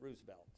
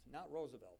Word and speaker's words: Roosevelt: favorites Teddy ruselt and he pronounced it roselt not Roosevelt Roosevelt but Teddy Roosevelt who